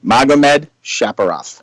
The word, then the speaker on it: Magomedsharipov: It's Zabit Magomedsharipov.